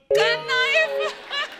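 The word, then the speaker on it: knife: मैं चाकू को भी कनाइफ बोलता हूं। नाइफ कनाइफ नहीं होता नाइफ होता है। के साइलेंट रहता है।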